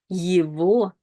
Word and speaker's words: его: But in some words, in some combinations, the letter G is pronounced as the sound V, V.